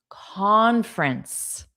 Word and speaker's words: conference: Conference. So we have two sounds. Conference and con is the stress sound.